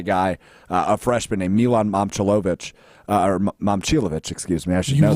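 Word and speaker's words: Momčilović: And I already, but I've been watching SportsCenter a lot this weekend, and none of the anchors say his name correctly. I believe Linda Kuhn called him Momcilovic. It's Momcilovic.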